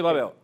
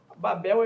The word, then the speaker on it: Babel: a torre chamou-se Babel Babel e uma pronúncia portuguesa nós tendemos ao paroxítona não é nós não dizemos cavalo dizemos cavalo e não dizemos Babel dizer bom então a